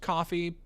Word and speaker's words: Ko-fi: Uh I think Kofi is supposed to be pronounced coffee, but I've my Well, like you're tipping a barista.